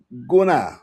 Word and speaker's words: Gurnah: I don't think 2025 was a prolific year for me with African literature, but Guna, that's how you pronounce his name, Admiring Silence. That was Gurnah.